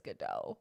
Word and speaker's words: Godot: his name sucks yeah don't pronounce the t you